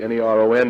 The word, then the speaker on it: Neron: If you spell it this way, N-E-R-O-N, Neron Caesar.